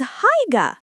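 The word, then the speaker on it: Haigha: His name is Higa. He pronounced it so as to rhyme with mare.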